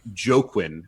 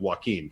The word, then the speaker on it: Joaquin: came to us with the name joe quinn which is i believe a mispronunciation of joaquin just for clarity but